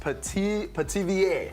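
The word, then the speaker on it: pithivier: Yes, and this is puff pastry, and it's pronounced petivier.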